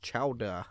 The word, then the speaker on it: chowder: True New England clam chowder, pronounced chowda, if you please, is a rich and thick concoction of shellfish, salt pork, or bacon, potatoes, and cream.